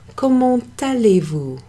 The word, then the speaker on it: comment allez-vous: So there's a T before an A there, and that means we pronounce that T. It's called making a liaison. So, comment allez-vous? Instead of comment allez-vous.